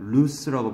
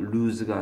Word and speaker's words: loose: loose라고 발음해요. loose가 아니야.